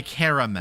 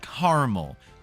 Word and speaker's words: caramel: yeah you're a caramel it is not caramel there is an A in there and unlike a lot of other words that would be really weird to pronounce it silently I I think it's